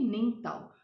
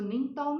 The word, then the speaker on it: Ningthou: isn't it isn't it children who will be ning tao so ningtaw means king and lima is queen and there